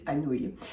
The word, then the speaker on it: Anouilh: Antigone by Jean Anouilh, and yes, that is how you pronounce his name if you've ever wondered what to do with that particular collection of letters. It is Anouilh.